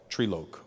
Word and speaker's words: Trilok: Treeloke. But it's pronounced three. Three. Like tupper. Like that?